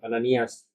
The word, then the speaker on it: Ananias: sepatu, tukang kulit, namanya Ananias atau Ananias. Ananias. Nah, kenapa beda ya? Nah itu pelafalannya seperti kita James, Yakobus, Jacob.